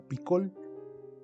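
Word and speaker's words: פִּיכֹל: que es fecal en hebreo se pronuncia piccol y tiene el significado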